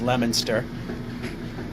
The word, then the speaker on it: Leominster: how to properly pronounce leominster which we print we uh yeah we pronounce it leominster here in the states and the british they call their little hamlet of the same name lemster and canada has a